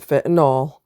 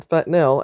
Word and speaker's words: fentanyl: You're going to hear a lot of people call it fentanol. They are all Every person that you hear saying that doesn't have a clue what they're talking about. That's not how it's pronounced. I have no idea why everybody's mispronouncing that word. It drives me absolutely insane. Um I've heard medical professionals call it the proper term fentanyl and I'm like I